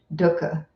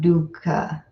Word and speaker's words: dukkha: want to do Doka you don't want to do Luca it's not dukkha obviously a pet peeve of mine but I think an important one I think pronunciation is important when we're trying to retain this original language of poly so it's duhkha like put up Dakka Dakka okay there I feel relieved